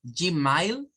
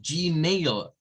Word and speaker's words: Gmail: Por ejemplo, los que tienen cuenta de Google, vean, si ustedes andan diciendo Gmail, eso está mal, porque es Gmail, Gmail es la pronunciación correcta.